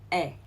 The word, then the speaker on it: 의: Okay, but in this case, we do not pronounce this '의 as '의 or '이. Instead, we pronounce this as '에. Okay, so for example, Nana's book, 나나의 책, 나나의 책. Alright, it's not '의, it's not '이, but '에.